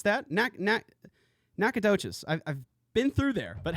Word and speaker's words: Nacogdoches: think that I think I know how to pronounce that knack knack knack a touches I've been through there but hello firewall Brandon